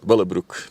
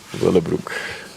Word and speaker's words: Willebroek: Willebroek. That's how you pronounce it in Dutch. Willebroek.